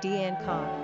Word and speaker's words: Danica: In an alternate meaning, the simple Latin pronunciation, Danica, means Danish and therefore the feminine equivalent to Dane.